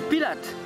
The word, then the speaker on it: Pilat: Le T ne se prononce pas, mais ça, bien sûr, ça n'est pas écrit sur Wikipédia. Et voilà la dune du Pilate.